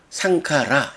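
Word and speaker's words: saṅkhārā: 그것의 관한 그것에 대한이라는 의미를 함께 가져요 그래서 상카라 행에 복수인 상카라 길게 발음하고 그 복수에 척격이 되면 상가 뇌수라고 발음하게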